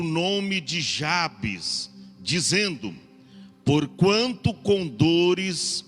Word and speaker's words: Jabes: de Jabes Na verdade tem muitos que pronuncia já fez né Jabez mas a gente é mais familiarizado com Jabes Então vamos deixar o Jabes tá já penso que eu acho que é mais corretamente o português já peso mas parece